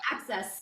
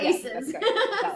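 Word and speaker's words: ACSES: that's your access yep all I can see is the uh the acronym a-c-s-e-s yes access not Aces sorry I know exactly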